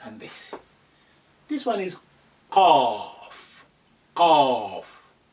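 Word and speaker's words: ق: next in the family slightly deeper than the f so you have two dots on top of it and that's a cough Cough like in the coffee coming back from the C when you say it like a mouth slightly open.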